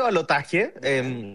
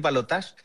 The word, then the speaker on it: balotaje: Acá se dice balotaje, pero personalmente me gusta más como lo dicen ustedes, así que le voy a decir balotage. E estuvo José Antonio Cast